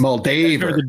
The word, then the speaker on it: Moldaver: Moldaver. Because it's Moldaver. Dave, like Dave.